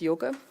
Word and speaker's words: Joke: is this first name a Dutch first name that's called yoga which is spelled ji oke so you know with English becoming so predominant I wondered how many people still dare to call their name yoga which would read like joke to anyone who's not Dutch